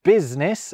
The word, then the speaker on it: business: I be silent when I is in business. Although weirdly the I in business seems to have stolen the U's job instead.